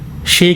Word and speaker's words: Shea: और अफ्रीका में एक शे करके पेड़ होता है, SHEA, तो उसको शिया नहीं बोलेंगे, उसका प्रोनाउंसिएशन जो है वो शे है, SHAY करके उसको प्रोनाउंस करते हैं।